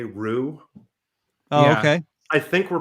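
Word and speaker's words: Ryu: to pronounce his name i say a lot of the japanese say rue okay i think we're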